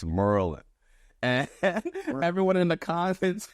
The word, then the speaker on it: Maryland: it the same way so he's like it's Merlin and everyone in the